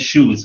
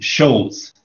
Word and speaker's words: shows: like watch sports and you were trying to say shows but your pronunciation wasn't right it's not so you said shoes but what you said sounded like shoes so the word you're trying to say is shows shows shows shows okay